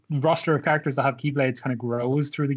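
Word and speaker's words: χ-blade: is to start the Keyblade Wars again, so that he can wipe the slate clean. He wants to summon the legendary X-Blade, which is pronounced Keyblade as well, which is another confusing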